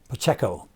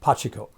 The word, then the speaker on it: Pacheco: from Kansas City Chiefs, you would probably pronounce it Pacheco, but he pronounced it Pachiko.